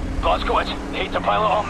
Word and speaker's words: Blazkowicz: It doesn't sound right in English. Say it correctly. Blazkowicz, hate to pile it on, mate, but we're in the weeds over here.